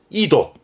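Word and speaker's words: 緯度: 발음은 케도. 그러면 경위의 경도니까 케도. 위도는요. 이도.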